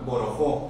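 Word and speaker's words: borojó: La doctora Gabriela Borojo, Borojo, con acento en la O.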